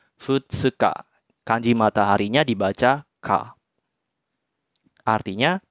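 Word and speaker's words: 二日: Jadi cara bacanya tanggal 2 ya. Tanggal 2 dalam bahasa Jepang kan futsuka. Jadi dibacanya futsuka.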